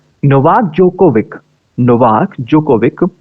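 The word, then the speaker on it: Djokovic: तो अगली न्यूज है नोवाक जोकोविक, नोवाक जोकोविक, ये जो डी है इनका साइलेंट है, ध्यान रखना है, डी साइलेंट है, ठीक है।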